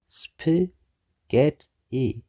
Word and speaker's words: spaghetti: syllable እዩ onion ሻሙናይ spaghetti ሰለስተ syllable ኣለዎ spaghetti እቲ stress ኣብቲ ካልኣይ syllable እዩ ማለት እዩ spaghetti ናይ ጣልያን ቃል እዩ ካብ ጣልያን ዝመጸ ወይ ከዓ ኦሪጂናሊ ካብ ጣልያን ዝመጸ ዓይነት ምግቢ እዩ ብጣልያን ከዓ ስፓጌቲ ይብሎ ማለት እዩ ስፓጌቲ ስለዚህ ስፓጌቲ ተይልና ብጣልያን